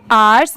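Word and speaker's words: hours: इसे हम क्या पढ़ेंगे आवर्स अब जैसे देखिए यहां पर तो एच दिया हुआ है तो इसे हम हवर्स क्यों नहीं पढ़ेंगे क्योंकि एच के तो साउंड साउंड ह से आती है।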